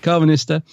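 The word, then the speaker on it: Karvanista: You got Carvanista, nearly said it wrong again, Carvanista, who's a fun character who delivers the lines well.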